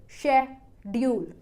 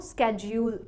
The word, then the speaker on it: schedule: Americans इस word को स्केड्यूल pronounce करते हैं, स्केड्यूल।